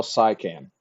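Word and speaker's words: Siakam: So, I said Pascal Sycam and it's spelled S I A K A M. So, SIA is sai, kam is can.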